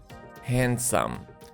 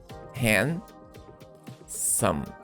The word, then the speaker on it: handsome: handsome for a man notice that in pronunciation we do not pronounce letter d and this sum um handsome notice here in the phonetic symbols that we don't have letter d hand sum okay handsome and the